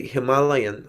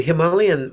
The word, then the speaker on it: Himalayan: the daughter of the Himalayan mountains. The Himalayan mountains, different ways of pronouncing, right? Himalayan or Himalayan? Yeah, Yeah, Himalayan. It's like tomato and tomato.